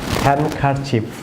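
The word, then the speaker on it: handkerchief: Viewers এটিকে অনেকে আপনারা হ্যান্ডকারচিপ, অনেকেই এই ডি ভিউয়ার্স এটি সাইলেন্ট থাকবে, এটি প্রনাউন্সিয়েশন হবে হ্যান্ডকারচিপ, আমার সাথে বলুন হ্যান্ডকারচিপ, হ্যান্ডকারচিপ, আবার বলুন হ্যান্ডকারচিপ, হ্যান্ডকারচিপ।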